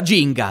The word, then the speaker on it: Gingka: te Jing jinga aspetta si pronuncia jinga la Ka è muta quello che è è